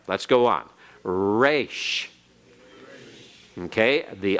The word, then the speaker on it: resh: And the R in Hebrew, we kind of give a very smooth pronunciation. We say rot, rat, rate. We say all those things. But remember, in other languages, it's rolled a little bit. And in Hebrew, the resh is rolled a little bit. Not normally so much at the beginning, but especially internally.